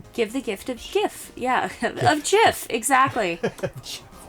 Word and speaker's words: GIF: It's quite an adjustment from Give the gift of GIF. Yeah. Of GIF. Exactly. Jaffix inter Jaffix interchange. That's why there's an argument because it stands for graphics.